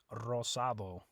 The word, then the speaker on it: rosa: in Spanish rhymes with Rosado purple is Morado Morado uh remember with Rosa and Rosado when you have an R right at the beginning of the word you also roll that R so Rosa Rosado same